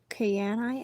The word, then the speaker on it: Kyanite: Kyanite? How would you pronounce this word? Kyanite is how I'm wanting to say it.